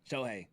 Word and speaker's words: Shohei: How do you pronounce his name? Shohei Otani? Yeah, Shohei.